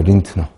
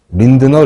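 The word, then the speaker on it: Lindner: 건 한센이 아니고 린트너죠 린트너 린드너 린트너 근데이 사람이 어느 나라 사람인지 잘 모르겠는데 아무튼 도고식으로 읽으면 린트너라고 읽는게 맞는 거 같은데 뭐 편한 대로 읽어도 되겠습니다 이 사람이 발견한 거죠이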